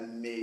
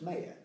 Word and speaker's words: Maia: Because for us it felt really obvious, but actually she gets called Maya, Mia, Well, yeah. and now she corrects it, says no, it's Maya.